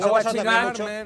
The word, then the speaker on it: guachimán: De Watchman ha evolucionado una deformación fonética. Watchman, y se escribe G-U-A, Che, que es muy importante la Che.